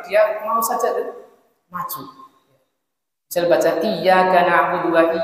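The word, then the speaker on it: إِيَّاكَ: mau saja majual baca iyaka nabudu wa iaka nastain dia baca iaka naudu sinnya dibagi jadi syin kemudian Iya dia tidak membacanya dengan tasdid J itu rusak ya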